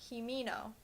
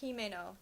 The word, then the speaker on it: Himeno: does bother me is in the English dub they pronounce himeno's name himino but if my Japanese lessons have taught me anything it's that all vowels keep their sounds No Matter What word they're in her name should be pronounced himeno not himino they pronounce Sheen as